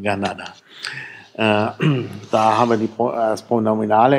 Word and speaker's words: Granada: Also das K wird heute meistens als G ausgesprochen. Ein bisschen so wie Fränkisch. So zwischen K und G eigentlich. Und das T ist so zwischen T und D. Also Granada.